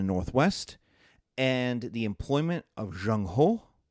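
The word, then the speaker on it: Zheng He: and the employment of Jean Ho which in English is spelled Z H E N G and H which is H E in English.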